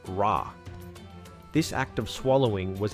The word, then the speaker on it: Ra: would periodically swallow the sun god R pronounced Rah this act of swallowing